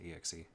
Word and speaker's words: exe: click on the xe do any people pronounce it eggsy like i sometimes do but i usually say exe i don't know i